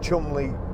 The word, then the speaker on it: Cholmondeley: I was lucky enough, again, Ford invited me to, it's spelt Cholmondeley, but I think it's Chumley Castle.